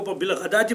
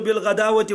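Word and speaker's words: بالغداة: بعض لوگ جو ہیں وہ چونکہ واو لکھا ہوا ہے تو وہ جو پڑھیں گے تو بالغداوتی والعشی. جی، تو اس آیت کا شان نزول کیا ہے، اس کا مطلب کیا ہے؟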